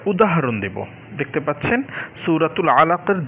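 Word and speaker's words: علق: এখানে মূলত শব্দটা হচ্ছে খলাকাল ইনসানা মিন আলাকিন। কিনটা এখানে উচ্চারণ হয় না, কারণ হচ্ছে এটা একদম শেষে রয়েছে শব্দটা, আলাক এরকম সুকুন উচ্চারণ হবে।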